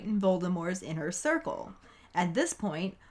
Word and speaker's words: Voldemort: But maybe Ron just doesn't like when people say Voldemort because he finds the silent T at the end to be pretentious as fuck.